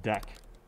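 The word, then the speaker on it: deque: also have a deck and again this is pronounced deck right it allows both insert and remove operations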